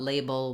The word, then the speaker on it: label: So all of these words have the first syllable that is stressed, and it's the same. They all have the A diphthong, lay is long, and then der, dull, or bull are all short, reduced syllables.